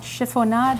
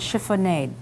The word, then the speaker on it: chiffonade: work with killer bees two possible pronunciations of this word Schiphol nod and chiffonade shredded or finely cut